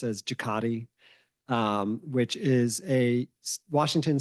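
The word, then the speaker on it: JCATI: Aerospace Technology Innovation uh that's abbreviated and and pronounced as jaati um which is a Washington state funded program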